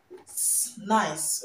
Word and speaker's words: nice: And this word is not pronounced nice. It's not pronounced nice. The C here is not pronounced z. It's pronounced nice, okay? Nice, nice of you, not nice of you, okay? Nice of you, not nice of you, okay? So the C is pronounced s and not z, okay?